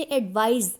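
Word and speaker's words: advise: जो सी वाला है उसे हम एडवाइस बोलेंगे और जो एस वाला है उसे एडवाइज यानी जा साउंड के साथ बोलेंगे। दूसरा डिफरेंस इन दोनों के फंक्शन का है।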